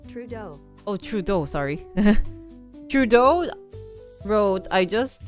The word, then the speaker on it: Trudeau: pronounce his name let me look up his pronunciation I hate French names they're too hard trud Trudeau oh Trudeau sorry Trudeau wrote I just had a good